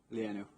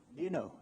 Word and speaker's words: Lienou: Is that how you pronounce it? Lienou. Lienou.